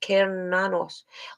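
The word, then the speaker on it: Cernunnos: powers are increased about karanos pronounced keranos also known as Hern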